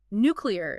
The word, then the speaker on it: nuclear: word on its own nuclear is a good example that nuclear pronunciation has been around forever and some linguists think it's a mix of nuclear and molecular wow I never knew